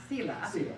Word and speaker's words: Sila: Carl Sila.